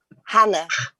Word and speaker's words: Chana: I was like, oh, because is it Chana? How do you pronounce it? Hannah.